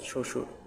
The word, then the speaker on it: শ্বশুর: এখানে উত্তর গিয়ে ঘ, অর্থাৎ শ্বশুর। এই শব্দে ব ফলার উচ্চারণ নেই।